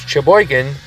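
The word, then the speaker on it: Cheboygan: That's right, I've been in Sheboygan, that's SH, in Wisconsin, and now it's Sheboygan, CH, but the rest is spelled the same way, in Michigan.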